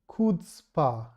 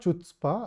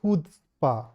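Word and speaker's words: chutzpah: It's pronounced kudspa. It's not chutzpa. I I actually used to pronounce it wrong. So I thought that maybe some others may also be doing it. So kudzpa or hudspa.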